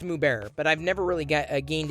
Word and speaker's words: Mubert: bear streamers mubarak streamers i want to say it's moo bearer but i've never really